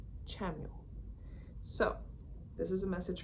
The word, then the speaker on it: Chamuel: Hello, I'm and I have a message today from Archangel Chamuel, who I instinctively want to call Kamel, but when I look it up, the English pronunciation is Chamuel.